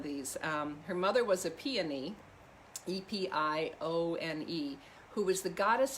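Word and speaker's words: Epione: at some of these um her mother was a peony e-p-i-o-n-e who was the goddess of the soothing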